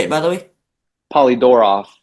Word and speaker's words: Polydoroff: We have an interview with Fisher Polydorf. Is that how you say it, by the way? Polydorov, like Polydorf, my bad.